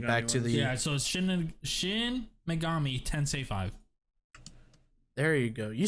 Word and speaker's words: Shin Megami Tensei: those that date back to the yeah so shin megami ten say five there you go you said it right